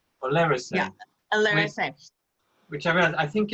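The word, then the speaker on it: Olerasay: So I'm drinking this wine here, which is how do you pronounce this? Oleracé. Oleracé.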